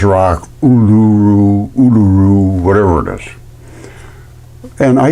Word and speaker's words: Uluru: Well, I did a video on Uluru and I'm I'm I'm told it's not pronounced that way. It's supposed to be olaru, something like that. Whatever they call its rock, uluru, oluroo, whatever it is.